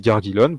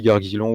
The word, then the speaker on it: Gargillon: Donc c'est Donc normalement, ça se dit Gargilon, prononcé par des elfes. J'accepte aussi Gargilon ou d'autres prononciations parce